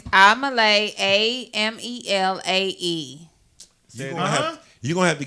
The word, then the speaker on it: Amelae: Spell it. What's the cash app, lamb chop? It's Amalay, AMELAE.